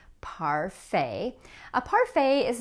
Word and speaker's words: parfait: Now, like many of these other words, the T at the end of the word is silent. Parfait.